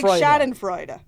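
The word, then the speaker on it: schadenfreude: sh shadam Freud shadam it's Shad Freud but his name is Adam it's Adam Freud sh Adam shadam Freud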